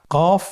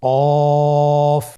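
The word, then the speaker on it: ق: কফ উচ্চারণের ক্ষেত্রে একটু মোটা করে উচ্চারণ করতে হবে। আপনারা আমার সাথে আবার বলুন কফ। আরেকবার চেষ্টা করুন। কফ। কফ উচ্চারণের ক্ষেত্রে অবশ্যই তিন আলিফ টেনে পড়তে হবে।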